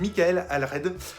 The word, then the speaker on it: Michael Allred: Je crois que c'est Michael Allred, à prononcer à la française apparemment.